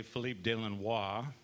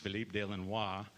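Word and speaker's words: Philippe de Lannoy: is uh philip delano or as they say philippe de lenois that's how it's pronounced philippe de lenois but it quickly became anglicized to philip delano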